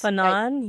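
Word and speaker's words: Fanon: Fannon. Yeah. Fannon.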